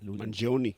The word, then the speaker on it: Mangione: I can't even pronounce his last name. What is it? Mangione.